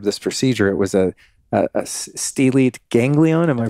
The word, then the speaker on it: stellate: It was a stellate ganglion. Am I pronouncing that right?